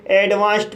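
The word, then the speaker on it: advanced: इसलिए डी का उच्चारण ट होगा। इसलिए इसे एडवांस्ड पढ़ा जाता है।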